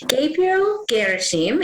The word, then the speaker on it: Gabriel Gherasim: Gabriel Gherasim is here. Did I pronounce that correctly?